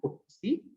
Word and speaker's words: putc: These are pronounced as get C and put C.